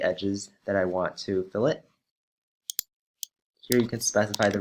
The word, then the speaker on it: fillet: and that is fill it remember that it is pronounced fill it not fillet as in the fish as in the fish